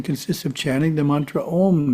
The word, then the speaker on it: Om: The first syllable is Ah, pronounced as the English word Ah, but prolonged. Ah. Second syllable is oo as in roof, pronounced oo but prolonged, oo. The third syllable is pronounced with the front teeth gently touching and the sound prolonged.